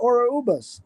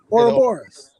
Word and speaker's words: Ouroboros: If you're talking about Ouroboros, I don't know if that's how you pronounce it. Is that how you pronounce it? The snake eating his tail? Ouroboros. Yeah. Right. Ouroboros.